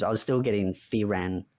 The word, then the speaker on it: Frieren: I was still getting Frieren right because I sometimes say it as Frieren, but I Uh-huh. think it's meant to be pronounced as Frieren.